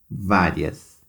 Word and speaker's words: várias: Depois vem a palavra várias. A sílaba mais forte está na penúltima. Então, vocês vão copiar aqui no balde amarelo, latão amarelo.